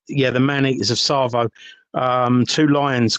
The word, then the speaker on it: Tsavo: Um so, and it's spelled with a T, but the T silent. Yeah, the maneaters of Tsavo.